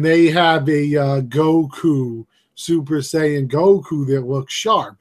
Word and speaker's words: Super Saiyan: somebody was selling a tell me if I get if I say it right a super sa a Super Saiyan statue super saiyan you got it right super san right of